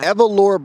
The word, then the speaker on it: Evalora: Okay, so right now we are at, how do you pronounce it? Evalora Barber Studio. Evalora Barber Studio.